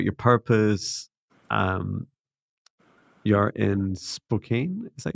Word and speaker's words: Spokane: Um, you're in Spokane. Is that how you pronounce it? Spokane, yeah.